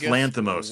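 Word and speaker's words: Lanthimos: um so four things directed by uh yorgos Lanos Lanos yes yes mat I yesh I had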